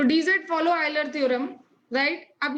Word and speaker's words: Euler: I repeat, dz follow, कुछ लोग यूलर theorem भी कहते हैं, इसकी स्पेलिंग में यूलर है एक्चुअली, तो आप यूलर थ्योरम भी कह सकते हैं। तो इट फॉलो यूलर, चलो मैं बोल देते हैं यूलर थ्योरम, हम लोग आइलर ही बोल देते हैं एक्चुअली।